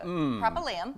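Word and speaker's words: Propylaeum: Propylium.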